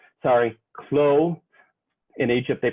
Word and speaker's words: Clot: this man antoine barthelme clots sorry khloe in egypt they pronounce the last name with the t in french it's not pronounced with the t so he's khloe in france and klotz in egypt um and he winds